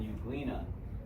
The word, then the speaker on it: euglena: The E is silent.